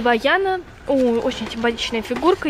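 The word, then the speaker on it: Vaiana: Я вижу Ваяна. Да, по-французски читается именно так.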